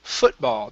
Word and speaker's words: football: And this word here is pronounced football. The stress is at the very beginning.